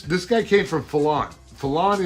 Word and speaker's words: Fallon: guy came from fallon fallon is uh 25 miles away oh that's how you pronounce that i've been calling it feeling sounded like the archangel